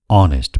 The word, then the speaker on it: honest: Honest भनेको इमानदार र यो शब्दमा h अथवा ह को उच्चारण हुँदैन। I am an honest person.